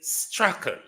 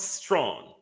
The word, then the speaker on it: Strachan: But it's not strong. It's actually Strachan. Ryan Strachan. All right? It's quite a popular British name. Strachan. Strachan. Strachan. Not strong. Murder! In America, it is pronounced as strong.